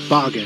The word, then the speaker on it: Bagan: taking a comprehensive look at the demon beasts bargain uh that's how to pronounced you're the mysterious ancient god